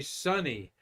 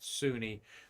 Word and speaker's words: Suni: But boy, you say Sunny for Sunny Williams there, and astronaut Kay Hire corrected me on that because they call her Sunny, not Suni, though the name is spelled S-U-N-I for Sunita.